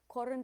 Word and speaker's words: Corund: Corund is accented on the first syllable.